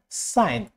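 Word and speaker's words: sign: সাইলেন্ট জি, এন, জি এন, জি এইচ এমন ওয়ার্ডের আগে হলে, যেমন সাইন, সাইন, নো, no, foreign, foreign, foreign.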